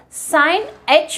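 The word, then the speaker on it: sinh: If we are taking the first hyperbolic function, that is sine h of x. How do we pronounce this? We can pronounce either way, hyperbolic sine x or sine h of x.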